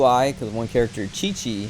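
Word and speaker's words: Qiqi: because one character chichi her name's chichi it's q-i-q-i and you pronounce it chi chi and it's like that doesn't make sense it would be like everyone in english would see that and say kiki or like quick we maybe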